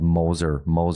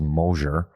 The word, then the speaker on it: Mosier: I called Moser. It was Mosier.